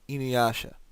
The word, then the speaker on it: Inuyasha: Kind of reminds me of Inuyasha. What people don't realize. Here's a little tidbit of Japanese information. Japanese has no stressed syllables.